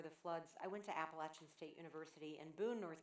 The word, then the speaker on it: Appalachian: And it is Appalachian. I know you Yankees say Appalachian. That's not right. It's Appalachian. I went to school there. I know how to say it.